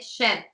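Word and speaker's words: Cheb: has to be said how do you say Sheb you got it it's it's shed so the it's a more like it would be like an SH if you will yeah yeah and so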